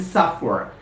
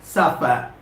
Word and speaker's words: suffer: difference between supper and suffer when you pronounce this word suffer when you pronounce those words supper your lips touch each other your upper lip touches